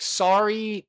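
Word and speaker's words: Saree: And the the first name S A R E E. So, I would pronounce that Sorry, or is it Si? You know, I've known people named Sari with that spelling.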